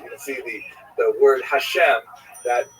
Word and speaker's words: Hashem: And then underneath, you see it has the words Tehillat Hashem, which means the Psalms of God or the Songs of God. And the word Hashem, of course, is pronounced with the letter H, but there is no letter H in the Russian alphabet.